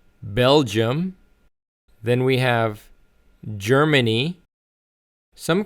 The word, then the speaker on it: Belgium: not Belgier. So it's Belgium. Belgium.